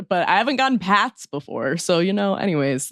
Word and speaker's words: Pat: They add an extra s to the end and I was like usually I have to tell people not to say Pratt, but I haven't gotten Pats before.